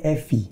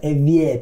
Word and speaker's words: Evi: Sama kayak Evi Tamala, dibacanya Evi, bukan Evie Tamala.